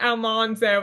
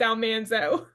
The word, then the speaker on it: Almanzo: It's not Almanzo, it's Almanzo.